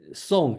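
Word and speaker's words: 訟: The meaning, song is the pronunciation.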